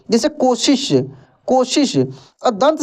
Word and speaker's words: कोशिश: क्या रहस्यमय शक्ति देखिए सबसे पहले हम लोग तलब को सीखते हैं दोस्तों का उच्चारण तालू से होता है जैसे शक्ति देख सकते हैं लिखा है क्या शक्ति ठीक ना शक्तिशाली सशक्त कोशिश जैसे कोशिश को श कोशिश कोशिश नहीं कोशिश इस तरीके से पढ़ा जाता है ठीक ना लेकिन